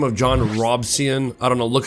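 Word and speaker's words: Robison: A man by the name of John Robson, I don't know, look how it's spelled right here. I want to pronounce it Robinson, but it's not, it's Robson.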